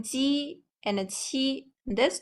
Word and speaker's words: 七: And the airflow, when we are pronouncing qi, there's a strong airflow. Xi, a little airflow, while ji, no airflow at all.